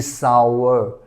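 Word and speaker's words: sour: grapes are सोर लेकिन यह सोर नहीं होता यह सावर सावर सावर होता है मतलब खट्टा जिसको हम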